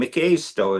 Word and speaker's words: Mikaisto: One of our great chiefs, Red Crow, my grandfather, and Mikaisto is how you say his name.